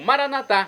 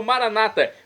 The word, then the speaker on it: maranata: E agora eu clamo maranatá, como dizemos nós católicos, ou maranata, como dizem nossos irmãos separados, das comunidades evangélicas ou protestantes. Não importa a pronúncia, o significado é o mesmo.